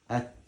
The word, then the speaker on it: ت: The same thing. At. Your tongue touch up. Huh? Your tongue, it has to touch up.